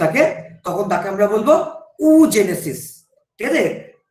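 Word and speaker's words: oogenesis: sell উৎপাদিত হয়ে থাকে তখন তাকে আমরা বলবো উজেনেসিস ঠিক আছে প্রোনাউন্সিয়েশনটা একটু মাথায় রাখবে ডাবল ও একচুয়াল প্রোনাউন্সিয়েশনে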